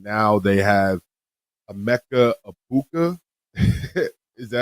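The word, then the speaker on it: Egbuka: And now they have a Mecha Abuka. Is that how you say his name? Iuka.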